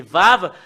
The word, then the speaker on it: ו: Voilà le fait de le prononcer, c'est Vav, c'est V.